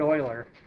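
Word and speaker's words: Euler: them a little bit more too it's Leonard Oiler that's how that e l r is pronounced um you know yes I I did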